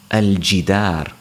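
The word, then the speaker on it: الجدار: For example, al-jidar. So the jim is a moon letter, and that's why we pronounce the alif lam, al-jidar, the wall.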